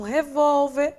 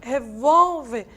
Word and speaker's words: revólver: Já quando a gente trabalha com revólver, como está aqui, e com bíceps, a sílaba tônica quem é? Não é a última, e sim a penúltima.